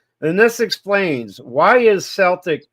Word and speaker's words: Celtic: of Europe while the early pronunciation was with a s sound reflecting its nearest origin in French The Modern Standard is a hard C sound like C this is because language historians desired the word to better reflect its Greek and classical Latin Origins the soft sea sound